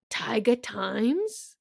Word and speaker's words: Taiga Times: The Taiga Times.